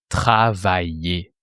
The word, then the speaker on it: travaillais: You have travailler. It ends with the sound et that you write AI. AI sounds et plus a silent ending.